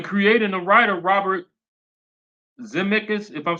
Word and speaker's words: Zemeckis: And the creator and the writer Robert Zemeckis, if I'm saying it correctly, Zemeckis, the guy who wrote and created Back to the Future, he said no, no, no, no.